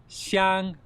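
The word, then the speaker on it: 香: Fragrance in Chinese, it's a xiāng first tone.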